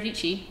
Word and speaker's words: Dietschy: This is Sara Dietschy, rhymes with peachy.